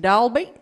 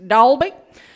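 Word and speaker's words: Dalby: was John he was in dal be a dull beat it's pronounced Dolby and he said yeah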